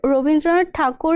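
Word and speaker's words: Rabindranath Thakur: okay so uh what was his real name rabindranath takur or rabindra tagor uh sir rindra takur is how it is pronounced in uh Bangla and uh rabindra tagor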